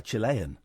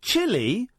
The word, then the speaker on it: Chile: Can I ask, how do you pronounce the name of your country? Is it Chile or Chile? Chile. Chile? Chile. Chile, not Chile.